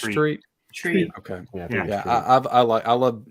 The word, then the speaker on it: Treat Williams: Is it Treat Williams or Tret Williams? I always heard it pronounced Treat.